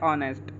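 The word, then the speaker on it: honest: इसकी correct pronunciation होती है वो होती है ऑनेस्ट इसको हम ऑनेस्ट बोलते हैं और यहां पे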